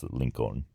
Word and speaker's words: Lincoln: Except in Spanish, you pronounce the L. Or at least that's what I heard on all the videos I watched. So it's Lincoln.